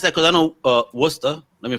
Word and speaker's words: Worcester: reason i asked that because i know uh worcester let me say it right yeah yeah yeah you got to pronounce this right folks they'll murder you in mass if you don't say this right yeah worcester when i moved to louisville it was louisville